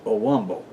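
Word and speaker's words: Owambo: of their neighbors now the ovambo people are southern African tribal ethnic group they are the largest ethnic group of Namibia found in its northern regions and pronounced a Womble they are also found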